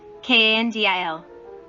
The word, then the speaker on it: Kandil: Kandil. Bandil. R. 59. Kan is pronounced aloud. Dil is pronounced with a low voice.